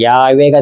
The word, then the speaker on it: 야훼: 근데 여호와란 말이 원래 발음을 제대로 하면 여호바 또는 야훼가 됩니다.